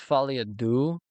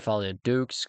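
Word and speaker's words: Folie à Deux: So, it's Falia Du, which is supposed to be reference to second Joker movie, but I said Falia Dukes because I didn't know how to pronounce it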